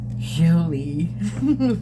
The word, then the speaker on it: Jolie: Jolie, pronounce it correctly.